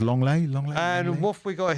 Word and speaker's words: Lenglet: Yeah, and it's Barcelona's Longley. Yes, that's how it's pronounced. Longley.